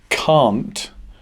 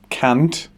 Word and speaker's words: can't: The negative version, can't, is pronounced with a long R sound. So it's not can't, it's can't.